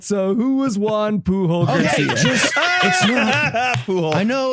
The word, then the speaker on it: Pujol: talking about today Juan puol Garcia PUO Garcia all right so who was Juan puhul Garcia po I know like Albert phol it's the I'm quite certain it's pronounced pool anyway he's from Spain